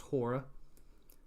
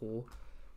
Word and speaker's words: Hoare: So let's start with House Hor/House Horror. It's spelled Hoare. In the Game of Thrones history and lore, it's pronounced horror, and they may have